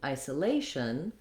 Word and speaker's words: isolation: It's just that in isolation, the main stress is on the A. In isolate, the main stress is on the I.